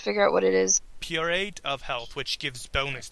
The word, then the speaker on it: periapt: PERIAPT. PER. What? IAPT. Is that the peridot? Like Periapt, yes.